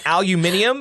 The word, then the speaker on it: aluminium: But the English say aluminium. They're adding letters. Aluminum.